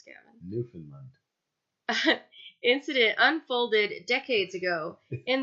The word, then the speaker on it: Newfoundland: best French recounted how the new Faolain please pronounce keren Newfoundland incident unfolded decades ago in the early 1950s after two UFOs were seen by many people off the coast of st.